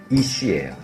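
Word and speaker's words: אִישׁ: 이제 히브리어 워드플레이가 나오는데 남자는 이씨예요 히브리요 이씨 여자는 이슈아예요 발음만 모음만 달라요 욕하는 거 아니고요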